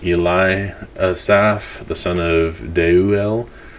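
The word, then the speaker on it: Deuel: asaf the son of daeu el that e is pronounced there deu dei ue el and so el the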